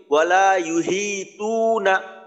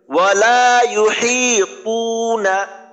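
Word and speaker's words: وَلَا يُحِيطُونَ: যদি এইভাবে বলি ওয়ালা ইউহিতুনা, দুইটা ভুল হবে। একটা হলো হা, এখানে ভুল হইলো। দ্বিতীয়টা তো, এইখানে আমি তার মতো উচ্চারণ করলাম তু না। এইখানে বলতে হবে ওয়ালা ইউহিতুনা, ওয়ালা ইউহিতুনা।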